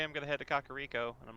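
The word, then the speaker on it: Kakariko: he's like okay I'm going to head to kakar Rico and I'm like oh that's how you say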